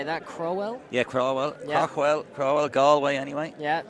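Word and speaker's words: Craughwell: Yeah, Crowell, yeah.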